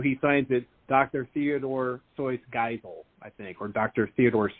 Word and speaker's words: Geisel: And the first name, Giselle? What? Geisel. It's Geisel. Geisel. Oh, Geisel. I made it French. Yeah, no, it's very German.